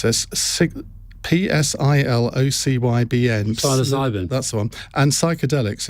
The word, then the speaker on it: psilocybin: Can you ask Alastair about, I don't know how you pronounce this, PSILOCYBN. Psilocybin.